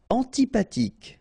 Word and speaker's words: antipathique: Antipathique. So remember, this H doesn't exist phonetically, so antipathique.